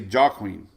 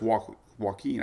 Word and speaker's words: Joaquin: big time I say how you say jaw Queen not but it's Joaquin I believe Katy Perry